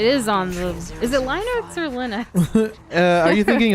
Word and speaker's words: Linux: No, But how do you pronounce Linux, it? Linux.